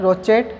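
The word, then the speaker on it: crochet: किसके हेल्प से करवाते हैं, रोचेट हुक, यानी यहाँ पे C है वो क्या है, साइलेंट होता है, रोचेट हुक बोलते हैं।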